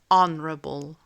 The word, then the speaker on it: honorable: H honorable.